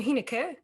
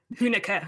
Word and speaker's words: Huenecke: I'm not quite sure if I pronounced that right. You actually did. We actually pronounce it wrong over in the States, but as a German, you understand, so you got it.